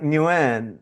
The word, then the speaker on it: Nguyen: Sorry, I'm going to pronounce it in Vietnamese. Chung or Jung? Nguyen.